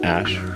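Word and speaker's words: Æ: and then and then the AE is like pronounced Ash Ash okay everybody knows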